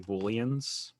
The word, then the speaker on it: Boolean: where pathfinder operates like booleans like oh intersections but they're pronounced boolean so i keep thinking they're like soup cubes you know like soup bouillon cubes yeah yeah it's so